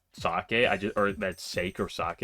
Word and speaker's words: sake: Kay I say uh whenever I read the word sake I always just pronounce it as sake yeah I did get the rare enemy twice already in this floor fascinating it's not because I don't know that it's sock I or that sake or